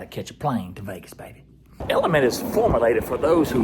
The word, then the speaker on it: LMNT: a special thanks to element pronounced element for sponsoring today's video